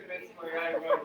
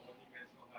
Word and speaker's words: 鬼滅の刃: That's not Onimetsu no Ha. It's Kimetsu no Yaiba.